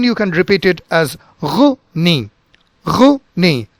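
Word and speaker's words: René: This is with a strong glottal sound and the entire word is very short and abrupt. So you can say it Rene, Rene. So there are no silent words in this and every sound is pronounced.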